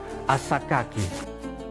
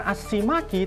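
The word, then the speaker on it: السكاكي: Abdus Salam Asyaddadi membacanya bukan Assimaki tapi Asakaki.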